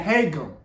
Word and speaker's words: Haegeum: HAEGEUM. That's how you say it. Okay, cool. And I even learned how to pronounce the word HAEGEUM.